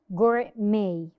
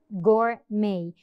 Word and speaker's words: gourmet: let's learn some more Gourmet Gourmet when the E appears before the T the t is silent May what's the meaning